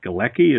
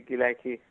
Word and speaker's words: Gilaki: spoken there, but another language is spoken called Galeki, is that right? Exactly, Gilaki.